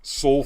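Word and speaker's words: Seoul: name of the restaurant soul food soul food kitchen is spelled s-e-o-u-l okay i i said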